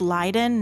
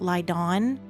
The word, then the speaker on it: Lien: of lien or lien it is lien not lion which is going to